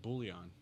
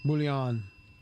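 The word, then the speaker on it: bouillon: soas you make your you know how to spell that word it's like booon b o u i l l a n oh almost I win oh bullion anyway yeah I just I I just happen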